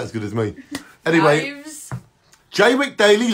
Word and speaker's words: Jaywick: of radio show called J week daily live say it like you would say suffered J wick daily why use you get